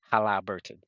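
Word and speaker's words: Haliburton: Like, if I was to like I got to pause when I say his name, if I say it correctly, Hala Burton.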